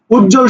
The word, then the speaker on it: উজ্জ্বল: উজ্জ্বল শব্দটা যদি উচ্চারণ দেখি, দেখো উজ্জ্বল, উজ্জ উজ্জ জল জল, উজ্জ্বল, উজ্জ্বল না, জল বলবো না, উজ্জ্বল, জল জল, উজ্জ্বল, ঠিক আছে, এভাবে উচ্চারণ করবা।